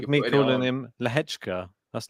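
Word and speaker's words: Lehečka: Well, it's like you're me calling him Lehechka. That's not how that's spelled either, but that's how it's said. Lehechka.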